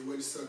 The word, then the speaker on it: Welsone: Alors c'est Wellson, ça s'écrit W-E-L-S-O-N-E.